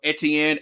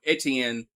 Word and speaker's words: Etienne: Hin, I mean I mean, everybody's been calling him, uh, Etienne their whole career. All of a sudden this offseason they they they like well no the correct way to pronounce it is what ancient or some or some like that.